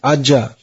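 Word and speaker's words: Ajaḥ: meaning of the name ajah even though it's only uh well with the visage becomes ah four syllables removing the removing the uh vowel and the visage only one syllable aj so if you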